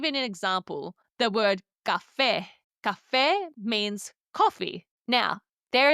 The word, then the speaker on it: café: And Spanish has these little tildes, little accents on top of the vowels to help emphasize where the stress falls in a word.